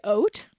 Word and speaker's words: haute: I can spell oat, though. Oat? That goes before couture. Coat, C-O-U-T. No. HAUTE. Haute couture. There. You say oat?